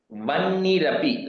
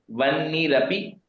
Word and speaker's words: वह्निरपि: निशुम्भस्याब्धि जाताश्च समस्ता रत्न जातयः Vannirapi, like we said that Vanni means refers to Agni, so the ha is silent there. Vannirapi dadau tubhyam, you can break it at ma, tubhyam.